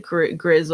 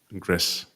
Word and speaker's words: Gris: Um, I think Gris was my favorite to read cuz do you pronounce it? Grizz or Gris? Gris.